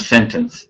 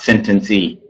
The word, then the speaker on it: sentence: them and sentence you you don't pronounce the e at the end of sentence so it's sentence not sentence e sentence uh and then